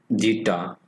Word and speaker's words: zeta: known as zeta and it's actually a greek letter okay pronounce it as jita and this is known